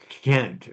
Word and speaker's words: Gent: I call it Gent, but I know you call it Kent or something like that.